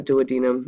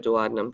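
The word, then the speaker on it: duodenum: Some people call it the douadinum. I like to call it the dadum just so you know.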